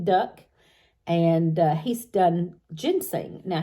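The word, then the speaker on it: Duk: a chinese fella uh named duck d uk and he pronounced it duck and he's done ginseng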